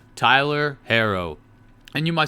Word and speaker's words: Herro: It's Tyler Herro, not Hero. Hero has 1 R.